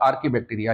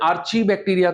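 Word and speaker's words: Archaebacteria: कुछ लोग इसका प्रोनाउंसिएशन आर्ची बैक्टीरिया करते हैं। तो याद रखिएगा CH जब कभी आए साइंस में, साइंटिफिक टर्म्स में, तो आपको इसका प्रोनाउंसिएशन क्या करना है? क, चा नहीं बोलना है।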